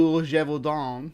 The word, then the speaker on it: Gévaudan: of the Beast of Jevon or pronounced in the French it's leet D jeevon yeah I practice my